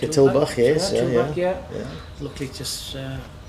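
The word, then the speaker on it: Tulbagh: Yeah, Savensburg wine's based in, do you pronounce it Tulbach? Like a Tulbach, yes.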